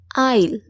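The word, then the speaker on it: aisle: আমরা সকলেই জানি আইল। আইল আপনারা এখন হয়তোবা ভাবতে পারেন যে এখানে আইল কিভাবে হয়। এখানে এসর উচ্চারণ কোথায়? কিন্তু মজার বিষয় হচ্ছে এখানে এসটার উচ্চারণ হবে না।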